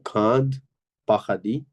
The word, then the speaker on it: Grand Paradis: situés dans le parc national হুম, হুম, du Grand Paradis, হুম, grand paradis, grand না, grand paradis, Grand Paradis, grand, D silent না, grand paradis, Grand Paradis, Grand Paradis.